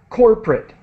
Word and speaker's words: corporate: We pronounce it corporate. Corporate. You are 2 not syllables.